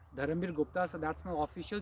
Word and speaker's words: Dharambir: Let me spell it: Dharamir Gupta, DHARAMBIR. It's not V, it's B for Bombay. Dharamir Gupta.